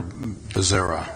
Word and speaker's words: Becerra: How do you pronounce his last name? Ryder Becerra. Yeah, Becerra. Becerra. He's here tonight, too.